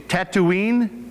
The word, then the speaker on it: Tatooine: This town, now help me with this pronunciation, Tatooine?